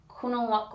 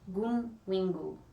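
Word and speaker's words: Gunwinggu: Tessa teaches us Kunawak words. Let me double check that. It told me in the front how to say it. Gunwingu. Yeah, I got it really wrong.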